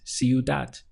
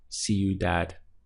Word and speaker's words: ciudad: city and Spanish is Cu that literally sounds like that see you that we have three syllables we have see you that and this word is ending in a consonant so I can tell you that it's classified as a feminine word so the city would be la ciudad or una Cu that a city to create a pathway back to the memory just imagine yourself on the sidewalk saying see you that and it will